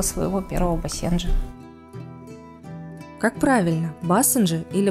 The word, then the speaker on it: басенджи: первого бассейна Как правильно басенджи или басенджи допустим оба варианта считаются но все-таки Правильнее говорить басендже с ударением на второй слог Каковы особенности характера бассенджа